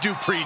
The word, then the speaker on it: Dupree: Maxine has all the good Dupree genes.